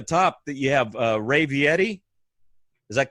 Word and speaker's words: Vietti: I have over here on one square up here at the top that you have Ray Vietti. Is that correct? Is that how you pronounce it?